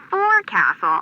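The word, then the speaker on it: forecastle: F why is that try pronouncing it like an English sailor with no formal education faux Castle folville over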